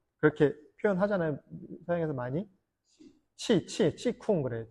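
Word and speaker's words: qigong: 중국식 발음인데, 키공, 뭐 키쿵, 뭐 이제 기공을 뭐 그렇게 표현하잖아요. 서양에서 많이. 치쿵 그래요. 치쿵.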